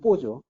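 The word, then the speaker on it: בוא: 이게 이제 뭐 보라고 돼 있지만 이제 원래 발음은 뽀죠. 예, 뽀인데 뽀가 오다 가다는 뜻이죠.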